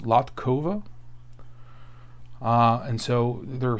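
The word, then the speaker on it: Latková: I guess that's pronounced Latkova.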